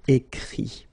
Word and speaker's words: écrit: Remember that even if you've got this final T, you don't pronounce it, so it goes like écrit.